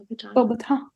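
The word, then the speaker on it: Beauxbatons: Bobaton.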